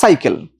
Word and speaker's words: সাইকেল: যেমন ধরেন যদি বিদেশি শব্দ বলি, এর উচ্চারণ কি? সাইকেল না সাইকেল? উচ্চারণটা সাইকেল, তাহলে দ্বন্দ্ব উচ্চারণ দন্তস্বর মতই হবে।